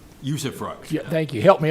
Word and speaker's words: usufruct: The use of a tool, an economic development abatement tool, usufruct. usufruct.